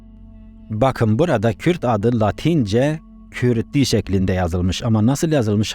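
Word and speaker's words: Cyrti: Latince'deki C, K olarak okunur. K. Y de Ü olarak okunur. Dolayısıyla CRTI yazımı Kürdi olarak okunur.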